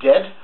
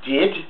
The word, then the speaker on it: DAED: disagreeable auditory experience designs it's pronounced dead or did uh as though your Scottish did the final thing